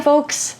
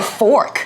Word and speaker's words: folk: Just make sure you pronounce it very carefully so it doesn't sound like a bad word. Oh, or a fork.